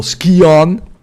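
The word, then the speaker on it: Scion: uh if you uh start as the noble skon that's the right pronunciation skon the noble skon you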